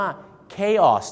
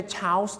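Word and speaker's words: chaos: วาย นั นะ ครับ เข ออก เสียง ว่า เคคอส นั่น เอง ครับ ไม่ ใช่ ชาส นะ ฮะ ไม่ ใช่ ฉส ฉส นะ ฮะ เ ออก เสียง ว่า เคส ครับ ผม ที่ จริง แล้ว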